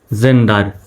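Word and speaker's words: gender: gain হবে না জেন জি ই এন জেন ডি ই আর ডার জেন্ডার জেন্ডার জি এর পরে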